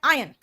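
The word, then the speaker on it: iron: कि आप सुनो, बेसिकली इसका प्रोनाउंसिएशन होता है आयन। देखिए आयन का मतलब हो गया आयरन, वही वाला आयरन यार, देखिए जिससे तुम आयरन करते हो, लेकिन उसको कहते हैं आयन।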